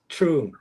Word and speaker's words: Truong: It's Trung.